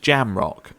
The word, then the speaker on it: Jamrock: Apparently it's just Jamrock, which, you know what?